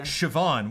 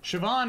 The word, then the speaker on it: Siobhan: For Siobhan, which is the fun new spelling of the gal who's in, what is that?